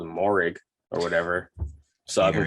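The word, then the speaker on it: Moehrig: you ever notice that he would always say meringue like ing at the end and i was like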